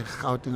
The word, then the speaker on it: Gauteng: I end up saying, if you live in Gauteng, please tell me the province where you live. And they say Gauteng. I said, that's exactly how to pronounce the name of the business.